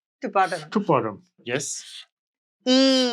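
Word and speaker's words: ㅣ: one last basic vowel e e e this is e the mouth and teeth must both be slight open and we write again from to bottom to bottom yes e e e e e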